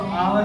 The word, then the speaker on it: hour: इसको आवर पढ़ते हैं, आर से नहीं पढ़ते। यस यहाँ साइलेंट है।